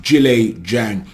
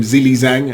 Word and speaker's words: Zhilei Zhang: predict Joe Joyce versus Julie Zhang I was calling him zilizang and then Edward Welsh commented on my last video thank you Edward for correcting me on the pronunciation I hope I get